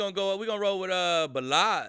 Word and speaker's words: Ballage: Man, we're gonna roll with Balaz. Is that how you say his name? Yeah, Kalen Ballage.